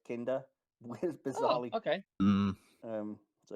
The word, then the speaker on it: Kinda: thought it was just kinda yeah i did until i watched the episode because when you read it it's like oh kinda but no it's kinder where's bizarrely okay um